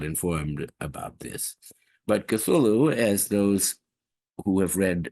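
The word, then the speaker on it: Cthulhu: consonants pronounceable still uh I think uh cthulu is the way Lovecraft pronounce it and the way everyone does pronounce it but you know Godzilla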